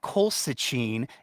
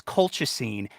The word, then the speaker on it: colchicine: them and she'd know it's not colcin it's colchicine and it's used for